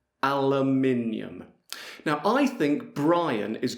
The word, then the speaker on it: aluminium: And I would say aluminium. Aluminium. Now I think Brian is going to say something different. So let's see. Aluminum. Yeah, I thought it might be different. Now, let's hear Pete. Aluminium.